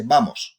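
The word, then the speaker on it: vamos: times you'll hear just bamos on its own and it means let's go you say bamos right all right so that's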